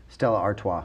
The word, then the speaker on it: Stella Artois: I can't even pronounce that's the beer, right? Stella Artois? Oh, Stella Artois. Artois. Stella Artois.